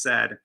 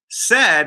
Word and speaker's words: said: the first one is laid is pronounced like paid but not like said right it looks like it should be sayed if you're following that pattern but nope it's said uh and said is pronounced like bread but not like bead and bead is pronounced